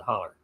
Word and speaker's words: hollow: It's spelled H-O-W or H-O-L-L-O-W, hollow, but we pronounce it holler.